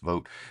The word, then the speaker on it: Vogt: Apparently his name is pronounced Vogt.